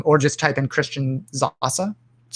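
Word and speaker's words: Sasse: sas photo um or just type in christian zahasa that's how you pronounce it uh but it's s-a-s-s-e um who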